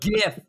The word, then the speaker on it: GIF: It's GIF, hard G.